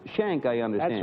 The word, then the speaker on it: Shenck: in railway next is mr uh it's pronounced shank i understand that's right phil all right shank a breakman from harrisburg pennsylvania well you're on